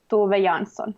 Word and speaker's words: Tove Jansson: So maybe I pronounced her name wrongly. How do you say her name? Tove Jansson.